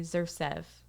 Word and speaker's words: Xersev: Xers, X is silent, so you can say Xersev.